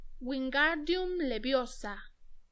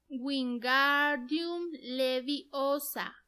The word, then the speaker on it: Wingardium Leviosa: «Wingardium Leviosa», gritó, agitando sus largos brazos como un molino. «Lo estás diciendo mal». Harry oyó que Hermione le reñía. «Es Wingardium Leviosa. Pronuncia gar más claro y más largo».